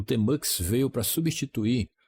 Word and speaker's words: Tmux: Aqui Márcio Bezerra, analista de sistemas, e hoje nós vamos conhecer uma ferramenta incrível, o Tmux, eu pronuncio dessa maneira, que é bastante utilizado